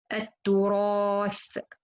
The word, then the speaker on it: التراث: التراث, وتأكلون التراث, so Ra here, it has fatha, so it should to be heavy.